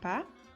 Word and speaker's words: pas: Cuidado, la S no se pronuncia. Se escribe pas, pero se pronuncia pas.